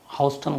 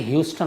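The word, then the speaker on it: Houston: मैंने कहा, एक ने लिखा था अमेरिका से कि मैं हाउस्टन गलत बोलता हूँ, तो मुझे खैर सुप्रतिम बनर्जी ने भी बताया और विकास गुप्ता जी ने बड़े अच्छे से समझाया प्रोनाउंसिएशन को। Thank you so much. इन्होंने बताया कि ह्यूस्टन होता है वो, और एक और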